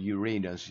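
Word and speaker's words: Uranus: 가 나타나고 그 아들인 유라너스 그지 유라너스 또는 유레이너스 이렇게 발음하는 사람들이 있는데 아마 유라너스가 더 발음이 많을 거야.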